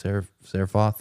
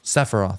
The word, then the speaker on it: Sephiroth: hell his name is, Seraphoth or whatever his name is, Sephiroth. That's how you say it.